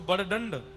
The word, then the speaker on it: बड़दंड: क्या बोलते हैं उसको, बड़दंड, बड़दंड बोलते हैं, बड़ो दंड, बड़ो दंड। हाँ, हर है तो शब्द बड़दंड ही, पर वह उड़िया प्रोनाउंसिएशन में बोलेंगे बड़ो दंड।